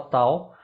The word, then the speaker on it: Tao: é essa diferenciação de como é que fala Dao ou fala Tal. Não, fala Tal, porque são formas diferentes de transliterar, né? de escrever aqui com os nossos caracteres a pronúncia chinesa. Com T é de um sistema inglês, né? E o com D é a maneira de escrever no oficial chinês, no pinyin. Sim.